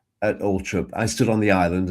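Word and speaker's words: Althorp: after the funeral at at all trip it's pronounced not all Thorp at Ultrip I stood on the island and said my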